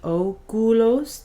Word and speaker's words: oculos: Notice the oculos, the C is hard again here because the C is followed by a U.